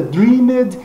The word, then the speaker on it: dreamed: Pronúncia então de dream. No passado não seria dreamed, mas seria dreamed. Dreamed. Essa é a pronúncia, o E desaparecendo também.